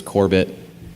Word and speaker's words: Corbett: Best friends call me Corbett. How did people mispronounce Corbett? Did you get Corbet? You get silent T's sometimes. Corbett is like a pretty, it's just confusing.